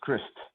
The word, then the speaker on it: Christ: way my name is christ like christ i only have you know like it's spelled like christ but it's chris chris with a t on it that's it certain rules